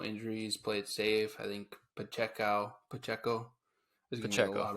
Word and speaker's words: Pacheco: foreign talked about him yep you said his name wrong oh but Jayco yep Isaiah Pacheco you can tell that the the Chiefs have